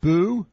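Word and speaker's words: Bew: ago, Paul Beaumont, Richard Boo, or I think it's pronounced Boo, B-E-W, Graham Boyd.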